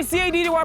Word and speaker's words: CADDY: It's your boy CADDY, pronounced Caddy, yet on another mission, but it's running the streets of Pretoria, touchdown to University of Technology.